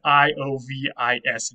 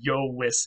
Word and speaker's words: Iovis: So if you wanted to say Jupiter's thunderbolt, you would say Jovis. That's Iovis, Jovis.